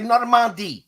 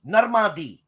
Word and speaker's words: Normandie: No, the ADIE gives you Adi. Okay. Is Is this a Canadian thing? I could say Normandie. Normandie.